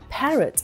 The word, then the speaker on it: parrot: In parrot and lion, we do not pronounce the O sound.